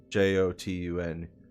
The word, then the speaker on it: Jotun: Their pronunciation of it is like super complicated and weird, but Jotun. That's similar to Jotunheim, or however you pronounce it, which is like the realm of the giants.